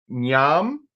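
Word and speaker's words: Ngiam: the name every time it's yam it's an n g a m it's yam Tong Boon Nang tongon was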